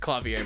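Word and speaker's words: Klavier: roll God incarnate yes that is pronounced clavier by the way clavier what a lovely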